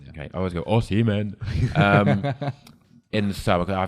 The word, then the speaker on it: Osimhen: because I don't think you'll get, I can't pronounce his name. Osimhen. Osimhen. Yeah, Osimhen. Yeah. Okay, I always go Osimhen.